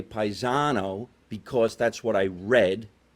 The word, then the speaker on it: Paisano: Paisano. Paisano? Paisano. So you almost say it like there's a B in there, to me.